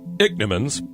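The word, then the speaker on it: ichneumons: favorite it's actually a horrible thing dick Nimmons pronounced dick Nimmons smell that I CH n EU mo NS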